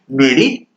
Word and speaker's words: meruit: इसका जो प्रोनाउंसिएशन है मेरिट।